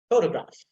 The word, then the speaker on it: photograph: See, that a sound, the short sound, I'm not pronouncing it that much, I mean audibly. So that's why you don't listen to it. You don't find it there. Photograph, photograph. Almost is ta, I'm just stopping there, and then ga, that is secondary stress, but the first syllable that I'm putting emphasis there.